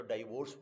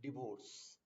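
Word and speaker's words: divorce: और verse verse, तो डाइवोर्स बोल देते हैं, काफी लोग बोलते हैं. But this is not right pronunciation, not डाइवोर्स, this is डिवोर्स.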